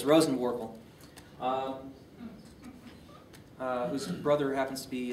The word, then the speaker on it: Rosenworcel: Looks like Rosenworcel, but it's Rosenworkel.